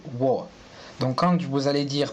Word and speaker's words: 我: Je en chinois il va se prononcer wo.